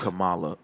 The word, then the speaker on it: Kamala: to say it right it's up kamala kamala harris kamala it's like you said like like a comma and then you know kamala just died recently i saw that yeah rest in peace kamala man old school wrestling